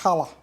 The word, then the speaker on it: challah: let's braid ourselves some Hala if you say it correctly Hala bread are we